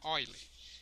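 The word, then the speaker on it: Euler: que se se chama oile se escreve eule mas se chama mas se pronuncia oiler que é o 2,718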